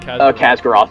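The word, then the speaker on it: Khaz'goroth: Khazgaroth, did I pronounce that right? I think Khazgaroth, yep.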